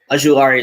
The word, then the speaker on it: Ojulari: Ojulari is better. You actually pronounce that really well, man. Am I doing it right? Yeah, that's like West African.